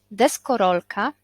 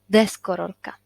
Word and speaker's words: deskorolka: tej przed ostatni samogłoski to znaczy deskorolka a nie na przykład deskorolka tak deskorolka akcent tutaj pana o komputer nie komputera